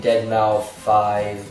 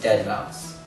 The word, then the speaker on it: deadmau5: mouse and i know people like pronouncing his name deadmau5 but no it's dead mouse so yeah if you're